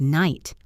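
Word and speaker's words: knight: Take the word night. We don't say the k. We don't say the gh. It just sounds like night.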